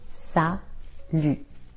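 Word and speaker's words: salut: After six we use and in an informal way you can use sal be careful the t is silent sal and usually the person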